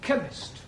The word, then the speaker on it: chemist: Chemist does not begin with a K. It sounds like it begins with K, CH. but that is making it chemist. No, the CH is pronounced K.